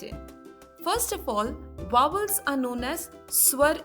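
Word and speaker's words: अ: swar in Hindi, and the first vowel of Hindi is A. A is pronounced as the pronunciation of A in the word ago or U in the word up.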